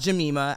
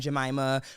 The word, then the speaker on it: Jima: uh never never yes so so my name is pronounced Jima I go by Mima